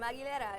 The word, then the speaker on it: Aguilera: like, maybe we should, your last name is hard for certain people to pronounce, Aguilera. You get a lot of Aguilera sometimes, but I let it slide, but I was like, no, this is my name, Aguilera.